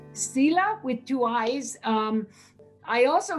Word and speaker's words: Siila: No, actually, in my mother tongue, Inuktitut, there is no SH sound. So Sila, which is a long E, right, is actually Sheila. But everybody just calls me Sila at home.